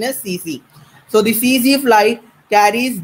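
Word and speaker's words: tsetse: the spelling is tac tac okay but the pronunciation is cc so the cz flight carries the is the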